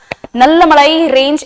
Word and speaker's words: नल्लामलाई: इसको इंग्लिश में नल्लामलाई रेंज बोलेंगे एंड पालकोंडा रेंज बोलेंगे, बट the true way टू से these words are नल्लामलाई रेंज and Palkonda रेंज।